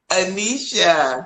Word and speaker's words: Aneshia: name mispronounce your name you're going to pronounce it correctly anisha yes yes anisha